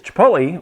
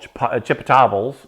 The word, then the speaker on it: chipotle: In case you didn't know what Chipotle is, Chipotle, or or I've heard friends of mine called chipotles and chipotles and all that kind of really bad pronunciation.